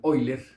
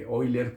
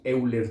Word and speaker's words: Euler: El señor Leonhard Euler, creo que se pronuncia en alemán Euler, él era suizo, pero suizo-alemán, entonces Euler, pero bueno, aquí diremos Euler tal y como se escribe, ustedes lo han escuchado porque el número E de Euler, ¿verdad?